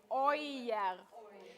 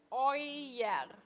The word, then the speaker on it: euer: Euer. It's called oi. Euer. Е-у читается как ой. Euer.